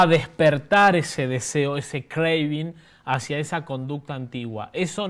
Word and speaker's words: craving: Se escribe C-R-A-B-I-N-G. Diríamos craving. La palabra craving, ¿sí?